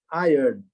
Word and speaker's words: iron: A pronúncia não é essa, tá? A pronúncia é iron. Ok? Não é iron, não.